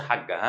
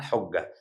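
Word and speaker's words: حجة: سؤال يعني ايه حجه وما تقوليش يا باشا حاجه ها حاجه دي في البيت اسمها حجه لازم تبقى عارف نطقها الصحيح طيب حجه وجمعها حجهج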